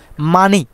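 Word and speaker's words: 많이: জায়গায় নিয়ে যেতে হবে তার মানে হিয়ত বাচ্চিমের পরে যদি ইয়ং থাকে তাহলে হিয়তের কোন অস্তিত্ব থাকবে না বা হিত কোন উচ্চারণ হবে না তাহলে মানি মানহি বলি নাই মানি হবে অর্থাৎ বেশি বা অনেক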